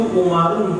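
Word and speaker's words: عمرو: Nah, Qala Umaru, itu Umaru ujungnya ada waw, tapi nggak boleh baca panjang. Qala Umaru radhiyallahu anhu, salah. Qala Umaru radhiyallahu anhu, bacanya pendek tapi ada waw di ujungnya.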